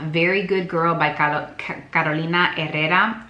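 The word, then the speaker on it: Carolina Herrera: by car kolina errera why I feel the need to pronounce this name in Spanish is because kolina herera has been a designer that's been around since my childhood and my grandmother was a very big fan of missa and that's how I've always remembered to pronounce her name this is very good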